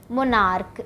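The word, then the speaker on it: monarch: लगेगा एस ठीक है इसी तरह दूसरा है मोनार्क इसको भी हम चा नहीं पढ़ रहे हैं का पढ़ रहे तो मोनार्क का हो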